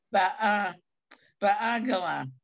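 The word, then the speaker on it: בעגלא: The second letter is silent. It's not a Y. Ba gala.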